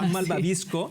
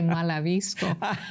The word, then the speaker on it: malvabisco: Yo dije, yo dije malabisco. Ya inventé una palabra. Malvabisco.